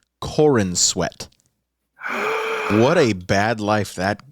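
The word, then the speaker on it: Corenswet: Legacy so we got David cornat God I'm so sorry if I butchered your name I'm soorry no no you got it exactly correct his name is Corin sweat what a bad life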